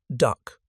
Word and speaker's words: DUKW: The Americans called it a DUKW. The soldiers pronounced it duck.